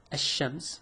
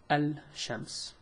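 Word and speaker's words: الشام: with practice we know it's called Asam not Al sham people always say Asam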